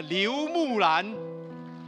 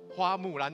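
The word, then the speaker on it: 刘木兰: 欢迎他、刘木兰、哦、很早我读作、花木兰，不是木兰、哦、我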